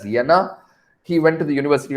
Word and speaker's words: Jena: to university of uh it is spelt as jena but it is pronounced as yenna he went to the